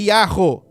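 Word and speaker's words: יהו: Porque o Yahô no final, significa, a pronúncia é Yahô, Yermiahô.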